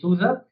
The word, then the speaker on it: SUSE: So I work in this uh German company called Souza uh s u s e but it's the German pronunciation is soua and uh we have been around for over 30 years.